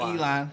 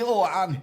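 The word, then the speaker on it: Ilhan: Elan. Elan. Not Elon. It's Elan.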